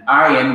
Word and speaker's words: ayin: And ayin, which has no equivalent pronunciation in English. It could have, but it is better to really learn it as being silent, like aleph.